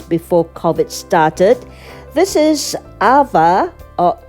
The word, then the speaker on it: Aava: covet started this is ava or eva melaka hotel it's spelled as a double a v a eva or ahba mlaka hotel located in